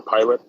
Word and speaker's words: Pilotte: here I go so I'm here with belot I hope that's right or Pilot how do you pronounce it pilot close enough pilot okay third time he's a